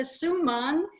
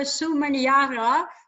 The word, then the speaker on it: Suman: You also, but were corrected in the meantime, how to pronounce Casesa. That's his name, Casesa. Toastmaster Alois, you had problems with Toastmaster Suman. You called her Sumaniara, which I know why, because you looked at